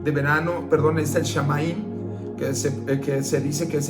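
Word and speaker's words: Samhain: celebraba el 1 de noviembre y que se pronuncia fin de verano, perdón, es el Shamaín, que se dice que es el fin de verano.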